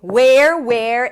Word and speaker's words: where: Okay, let's move on to where, and were. Where, were. These are homophones, so they're pronounced the same.